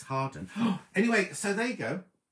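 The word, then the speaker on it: Hawarden: hawa oh well harden you call that it's about harwarden but it's hardened anyway so there you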